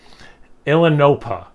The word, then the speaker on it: Ilinohpa: Ilinohpa, I'm assuming is how you pronounce it. Like Illinois, Ohio, Pennsylvania.